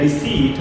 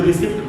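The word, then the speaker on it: receipt: जैसे यहाँ पर है आई नीड अ रिसीट, अब इसमें टी साइलेंट होता है। लोग कई बार इसको रिसिप्ट पढ़ लेते हैं, रिसिप्ट नहीं है उच्चारण।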